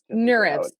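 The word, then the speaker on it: NeurIPS: mentioned you submitted two manuscripts to is it pronounced n IPS like neural nurs yeah nurs okay so it's a conference on neural information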